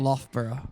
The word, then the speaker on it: Loughborough: Loughborough.